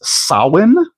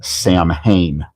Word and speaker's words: Samhain: And yes, the correct pronunciation of that word is Sin, but the character in the real Ghostbusters universe, his name is pronounced Sam Hayne.